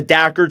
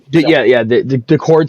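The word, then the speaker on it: Daccord: Actually, no, the Dackard signing looks good. That's the only other thing. Yeah. The Cord signing, yeah.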